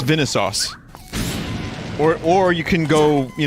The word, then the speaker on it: Vinesauce: It's Vinesauce. Or you can go, you know, real pronunciation, which is Vinesauce.